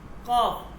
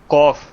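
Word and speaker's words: قاف: একটু খেয়াল করবেন ফারসিতে এই কফটা মূলত কিউর উচ্চারণ হয় কিউ কিউ এই ফারসিতে যে কফ এটা মূলত কিউর উচ্চারণ হবে কিউ ঠিক আছে কিউ নট কে কে এর উচ্চারণ হবে না কিউর উচ্চারণ হবে।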